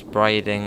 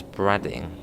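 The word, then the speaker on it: Brading: You pronounce braiding as bradding. I think it is braiding.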